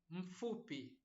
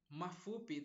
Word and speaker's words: mfupi: I noticed most of my friends, they have problem with pronouncing a letter M if it doesn't have a vowel. They tend to add a vowel. Like here, mafupi, they say mafupi, but it's just mfupi, mfupi, mfupi, mfupi.